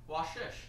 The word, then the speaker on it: Vashisht: Vashisht. There's going to be another quiz in about 15 minutes, so. A lot of people think it's German because the V is pronounced like a Vashisht.